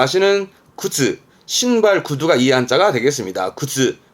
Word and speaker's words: 靴: 세가 세가 군자 있던 거 그렇죠 이게 군함이 발음은 근가 근가 근데이 화자는 음독은요 정도고 대부분은 뭐 훈으로 보여집니다 뜻으로는 다 아시는 구즈 신발 구두가이 한자가 되겠습니다 굿즈 굿즈 그러면 이게